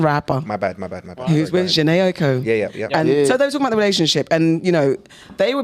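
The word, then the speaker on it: Jhené Aiko: And he spoke about his relationship with Jenny Aiko. Is that how you say it? Janae Aiko.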